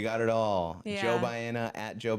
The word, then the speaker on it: Baena: Joe Baena, at Joe Baena. Wow, I said it with the worst accent. It's okay. It's okay. If you pronounce it Baena. Baena. Baena. Yeah. It's just not Baena.